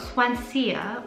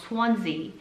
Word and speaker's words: Swansea: words swansea all right i was completely saying it wrong swansea 25 manchester which ranks